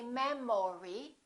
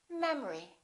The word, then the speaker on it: memory: we say economy economy look at this one the second syllable is reduced the first syllable is stressed we don't say man Mori we say memory repeat after me memory